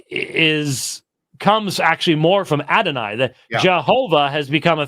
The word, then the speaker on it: Adonai: standard Val pointing for Adonai under Yahweh but think about it Yahweh is a two syllable word Adonai is a three syllable word so it doesn't actually